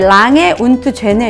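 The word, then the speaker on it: Lange & Söhne: 뭐 영어도 잘 모르는데 도로까지 어떻게 알겠어요 내 랑에 운트 죄네 역시도 한국의 변증을 했는데 그건 또 뭐야 0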